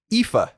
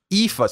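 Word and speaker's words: Aoife: is in fact pronounced ifa oh my god ifa so e-e-f-a is how you pronounce it it's spelled a-o-i-f-e if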